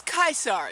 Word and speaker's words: Caesar: but um i mean julius kaiser that's how you say it in latin but julius caesar and look at all